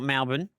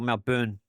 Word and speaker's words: Melbourne: So I call it Melbourne and they call Malburn. They pronounce the B area a bit more than it needs to be done.